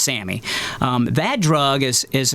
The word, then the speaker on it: SAMe: yeah we'll call it sammy okay it spelled like same s-a-m-e but it's pronounced sammy um that drug is